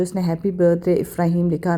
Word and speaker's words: Ifrahim: मेरे बेटे का नाम इफ्राहिम है, ही इज़ नॉट इब्राहिम, ठीक है।